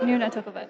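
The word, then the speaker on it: Nunatukavut: It's like Nuna, not Nana. Nuna. Nuna Tukavit. Okay. Noon, like the hour.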